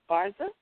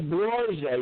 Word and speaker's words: Borgia: Barza? Did I pronounce it right? Lucretia Borgia, yes. Yeah, Borgia.